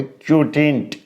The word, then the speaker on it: quotient: क्या बोलेंगे, देखो कैसे उच्चारण करोगे, क्यूटिंट, ठीक है, दांत वांत पीस के नहीं, आराम से, ठीक है।